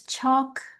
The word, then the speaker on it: chocolate: chos I don't know becomes chocolate. Now you don't have to say the T.